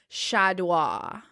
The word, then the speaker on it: Chaudoir: elvira de la fuente shadow okay the last name spell c-h-a-u-d-o-i-r so dua yeah oh then i nailed